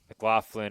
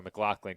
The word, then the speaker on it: McLaughlin: We also confirmed that the last name McLaughlin or McLaughlin can be pronounced both ways, as a towering fly ball is well foul.